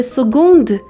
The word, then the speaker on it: seconde: L'aiguille des secondes. Très bien. L'aiguille des heures عقربه ساعت شمار. L'aiguille des minutes عقربه دقیقه شمار. L'aiguille des secondes عقربه ثانیه شمار. دقت کنید seconde c'est se prononce گ.